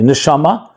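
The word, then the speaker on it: נשמה: So therefore in Hebrew the word for soul and the word for breath are actually the same word. They're just pronounced differently. Nishama is soul. Nishima means breath.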